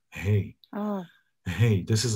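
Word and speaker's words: ה: Hey, this is how you pronounce it. Hey, like you say, like hey, house, right?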